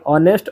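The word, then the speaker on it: honest: देखिए hour, ऑनेस्ट और higher, ये तीनों जो है शुरुआत का एच साइलेंट होता है और शब्द का उच्चारण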